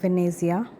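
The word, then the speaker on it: Venezia: সো আমরা বলি ভেনিস, ওরা বলে ভেনেজিয়া ইটালিয়ান ভাষায়।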